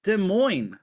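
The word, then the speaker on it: Des Moines: So why is it pronounced de mo? It should be pronounced demo.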